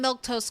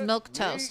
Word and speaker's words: Milquetoast: It's got extra letters, but it's simple. It's Milk Toast. You can say Milk Toast.